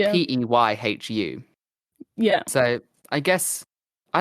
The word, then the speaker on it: Peyhu: You're like also one of the only ones who pronounces my name right. Like, I have some other friends and they pronounce like Pichu or like really something else, and you're like one of the only ones who say my name correctly. Yeah, I think it's important, like, for the people that listen, because it's audio, your name is spelled Peyhu.